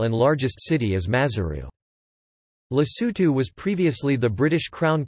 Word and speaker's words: Lesotho: Lesotho, listen, Sotho pronunciation, LST, officially the Kingdom of Lesotho, Sotho, Muso Oa Lesotho, is an enclaved country within the border of South Africa.